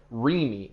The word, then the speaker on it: RCEME: So we were supposed to identify ourselves as REME. The C is silent, you see.